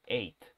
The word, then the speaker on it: eight: line king wright y ojo con el número 8 recuerden que aquí no se pronuncia la g la h sólo es de eight ok la gh es muda y bueno tenemos el